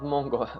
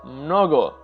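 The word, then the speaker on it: много: We have the word mnogo, which is actually the same word in Bulgarian, not mongo, mnogo, which means in Russian it means many or a lot.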